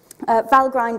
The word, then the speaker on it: Valgrind: have any debug symbols in there anyway um Val grind is another tool which um is extremely powerful